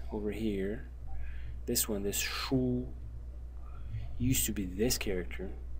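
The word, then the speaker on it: 殳: And then we have the right side, which is this element over here, which is pronounced shu, and its meaning probably is to launch arrows, and so the meaning together is to launch arrows with a bow.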